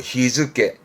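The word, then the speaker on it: 日付: 발음은 히즈케입니다. 이런 거 챙겨두시고, 히즈케.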